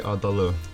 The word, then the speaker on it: Adali: Adali.